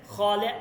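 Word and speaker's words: خاله: দেখেন খলে আম খলে আম ফারসতরাস আমার খালা কি নার্স আবার দেখেন খলেতু তোমার খালা ফারস্তরা নার্স দেখেন এখানে হেটা উচ্চারণ হচ্ছে না এটার জন্য এইযে দেখেন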